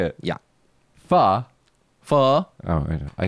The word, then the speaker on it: pho: is that actually how you say it yeah Fah Fah oh I called pho is there any